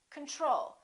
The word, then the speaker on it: control: we say control or do we say control we say control second syllable is stressed the first oh is